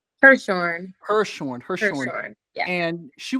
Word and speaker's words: Hirshorn: Hershorn.